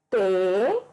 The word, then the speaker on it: Teresa: Tereza. A sílaba de Teresa que você pronuncia com mais intensidade é a sílaba re.